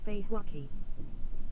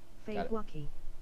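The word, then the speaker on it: فواكه: In the Arabic language, this is how you say fruit. Fruit is Feihwaki. Let's practice together. Okay. Feihwaki.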